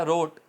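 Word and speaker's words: wrote: इसी तरह रोट, W silent, ROTE, रोट, ठीक है।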